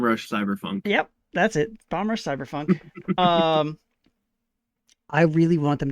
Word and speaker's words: Bomb Rush Cyberfunk: As a comparison, this Steam review about the same amount of reviews as Cyber Rush Bomb Funk.